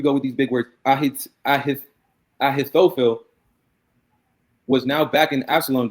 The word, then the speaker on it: Ahithophel: How do you go about pronouncing it? Ahithophel. Ahithophel.